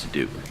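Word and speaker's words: Diduch: use variants uh councilor dedic am I saying that right that's okay firm is called Katie law so for the record my last name is spelled d-i-d-u-c-h are pronounced to do but you can call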